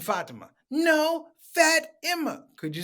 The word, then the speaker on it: Fatima: uh my name is fat emma you mean fatima no fat emma could